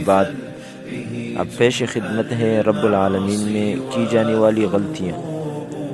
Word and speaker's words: رب العالمین: کے ساتھ پڑھتے ہیں۔ تو کچھ لوگ حمزے کے ساتھ پڑھتے ہیں اور کچھ لوگ غین کے ساتھ پڑھتے ہیں۔ یہ دونوں غلط ہیں۔ درست تلفظ رب العالمین ہے، یعنی عین کو حلق کے درمیان سے نکالنا، جس کو تجوید کی زبان میں وسط حلق کہتے ہیں۔ معزز دوستو، آئیے اب